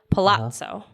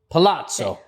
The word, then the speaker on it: Palazzo: 2 Z's, Yeah. you say it like pizza. Palazzo. Palazzo. No. Think about how you say pizza. Pizza. You don't say pizza, you say pizza. Palazzo. Palazzo. There you go.